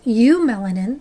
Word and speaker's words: eumelanin: There's eumelanin, and the E is silent at the beginning, that are dark granules of melanin, and they're very smooth.